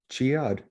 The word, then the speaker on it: Chiad: an adventure and huh i've been pronouncing it wrong all the time you're right chiad emphasis on the chi uh and was it